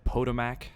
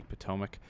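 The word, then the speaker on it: Potomac: correctly Battle of Shiloh I know I mispronounced pomac I said pmac it doesn't even sound right but yes it is indeed supposed to be pomac um we're going to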